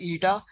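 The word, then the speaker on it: η: इस denoted by एटा Greek letter है जिसको हम प्रोनाउंस करते हैं एटा एस इस डी रेशों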